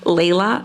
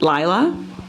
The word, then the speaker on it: Lyla: um my name is is actually pronounced Leila not Lila and I look at